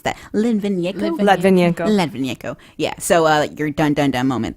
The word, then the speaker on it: Litvinenko: Well, how do you pronounce that? Litvinenko.